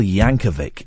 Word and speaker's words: Yankovic: And also next week, Weird Al Yankovic. It's a hard C at the end.